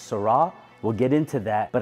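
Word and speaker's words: Sera: from Top Rank 1992 Toyota Sarah although the correct pronunciation is sarra we'll get into that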